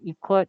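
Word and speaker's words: 이것: If the syllable block, which is like a group of letters, ends in an S, the letter S, their letter S, then it's pronounced T with the T sound.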